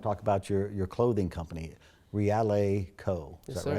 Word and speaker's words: Reale: But today we want to talk about your clothing company, Reale Co. Is Yes, that sir. right? Did I pronounce it right?